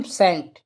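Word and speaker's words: scent: है याद रखना है जहां भी एस के बाद में अगर सी आए तो सी क्या होगा साइलेंट होगा जैसे एग्जांपल के तौर पे ले लेते हैं हम सेंट ठीक है सेंट तो सेंट के मीनिंग में देखें एस सी ई एन टी तो मैंने क्या बताया एस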